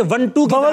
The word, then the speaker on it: मंटो: दरअसल ये मंटू ही है, क्योंकि कश्मीरी गोत है, वहां पर इस तरह की जातें होती हैं, नेहरू, मंटू, कंजू, तो ये मंटू ही है। और खुद सादत हसन मंटो साहब ने इसका प्रोनाउंसिएशन बताया था कि वंटू वंटू।